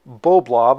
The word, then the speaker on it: Boblov: from a company called boblob I believe that's the way you pronounce it to review a body